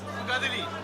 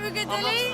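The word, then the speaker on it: Uigeadail: Ugadili. I believe so. It's in Gaelic, you know. Is it Ugadili?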